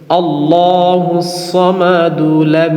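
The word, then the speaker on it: اللَّهُ الصَّمَدُ: আল্লাহুস সামাদুলাম ইয়ালিদ। এভাবে তাহলে এখানে যদি আমরা থামি তাহলে কিভাবে বলব? আল্লাহুস সামাদ।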